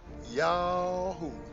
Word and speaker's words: YHWH: And the heathen shall know I am YHWH, pronounced Yahoo, the Holy One of Israel.